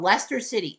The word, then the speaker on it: Leicester City: A team called Lester City, L A I C S. Sorry, L E I C E S T E R city were in Lester pronounced Lester City.